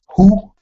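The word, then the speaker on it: הוא: This next one is pronounced who. That's if you were saying he, like he did it. Who? It's your hey, wow with the U class vowel, and your aleph. Who? Meaning he.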